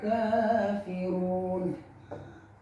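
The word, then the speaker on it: الكافرون: Ya ayyuhal kafirun. Kafirun, kanya itu 2 harokat, disebut mad tabi'i alif.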